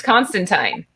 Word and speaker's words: Constantine: through my to-do list the comics have made it clear though guys on multiple occasions that john constantine says his name rhymes with pine or line so it is constantine isn't that weird and